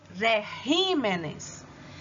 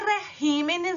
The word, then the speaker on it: regímenes: Quando você vai passar para o plural, ele vai virar regímenes. E régimen, a sílaba tônica é no ré, e regímenes, a sílaba tônica é no ri.